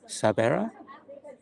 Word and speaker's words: Sabera: Is it Sabera? Is that the correct pronunciation? Sabera? Let me just see. Sabera, is that the correct pronunciation I've just said? Sabera? Yeah. Okay.